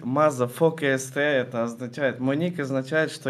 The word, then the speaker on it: MAZA4KST: или мазать или как правильно говорить правильно правильно говорить мазафака СТ это означает Моника означает